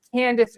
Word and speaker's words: Candace: It's Candace Owens.